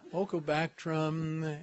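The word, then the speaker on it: Ochrobactrum: Now here's one that I've finally learned how to pronounce. Don't correct me if I'm wrong. It's Ochobacter. Well, I had a good start. Ochobactrum anthropi.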